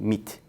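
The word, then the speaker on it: MİT: Turkish nation intelligence MIT in Turkish we call it in Turkey meat literally MIT pronounced as MIT the director of the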